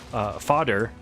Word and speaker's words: Fader: It took me until I killed Fader to realize that, and I only realized it once I heard somebody else pronounce it fodder, and then they said